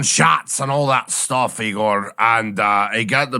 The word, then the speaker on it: Igor: I I just uh it Rhymes ego right yes yes my name is Igor uh so I wondered